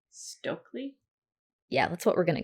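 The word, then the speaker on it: Stoeckley: her last name stokely is it stokely that's how that's the pronunciation that i've seen okay and i think the entire last episode i called her stowackley yeah yeah it just looks like it's snowing but it's stokely okay what did you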